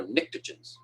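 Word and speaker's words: pnictogens: the next ones are nicktogens and starts with a p the p is silent p and i c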